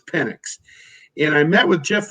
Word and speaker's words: Penix: into the offseason and penny I think the proper pronunciation I'm being told is Penix and I met with